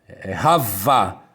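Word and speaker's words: חַוָּה: Pode ver que Eva, Rava, em Gênesis 4:1, termina com Vav-He e se lê Ravá.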